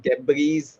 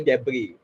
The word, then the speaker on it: debris: So I've always heard the mispronunciation of debris. It's actually debris, which was very correctly used by Anirudh.